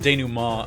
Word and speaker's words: denouement: It's pronounced denouement. Again, fucking French, To solve man.